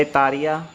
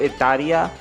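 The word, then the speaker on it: イタリア: Italy को बोला जाता है इतालिया।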